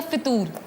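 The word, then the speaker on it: फ़ुतूर: सर इसके correct pronunciation क्या है, फतूर या फितूर? फतूर, फे के ऊपर पेश है, ये बड़ी आम बात है, फे के ऊपर पेश है फतूर, क्योंकि मैं भी फतूर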